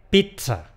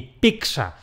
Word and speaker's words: pizza: La pronunciación más adecuada es con una te: , que es lo que más se acerca al italiano solo que usando los sonidos que tenemos disponibles en nuestro idioma. Es la versión que cuenta con las bendiciones de las Academias de la Lengua. Ni ni : .